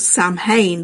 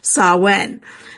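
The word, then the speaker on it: Samhain: wrong all the time but I always think it was called Sam hay but it's actually called saen so it's a Gaelic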